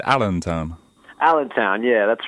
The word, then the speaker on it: Allentown: How do you pronounce it? You said Allentown. Allentown, yeah, that's right. Oh, because I want to look at it and say Alien Town.